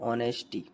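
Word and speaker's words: honesty: याद ही कर लो ऑनेस्टी इस तरीके से नेस्टी लिखा है लेकिन ऑनेस्टी पढ़ते हैं इसको ठीक है तो ऑनेस्टी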